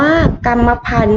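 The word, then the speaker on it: กรรมพันธุ์: นะ คะ นัก เรียน คำ แรก อ่าน ว่า กัมมะพันธุ นะ คะ เห็น ไหม คะ นัก เรียน คำ ว่า กัมมะพันธุ เรา จะ ไม่ ออก เสียง ตัว ที่ เป็น ทอ ทง สะ อุ แล้ว ก็ มี ไม้ ท่าน นัก ฆ่า นะ คะ ทำ ต่อ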